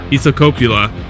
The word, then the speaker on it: Isokauppila: Isokauppila.